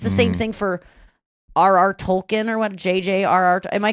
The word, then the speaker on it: Tolkien: I thought it's Tolkien. Tolkien. Yeah. K-E-I-N. I didn't know how to pronounce it, but...